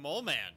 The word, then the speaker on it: Moleman: Oh my god, our next mission's from Mole Man. The Mole Man? It's pronounced Moleman.